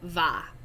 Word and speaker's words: va: i never am these the letter v is pronounced like like almost like the letter b in spanish okay so it's not